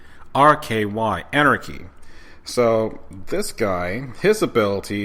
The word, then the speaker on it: Anarky: It's not spelled the exact same way as it should be, but it's spelled Anarky, Anarchy.